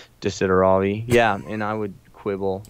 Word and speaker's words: Desideravi: Yeah, it's Not like Desiderio Desideriver, you know, whatever that one was, right? Desideravi.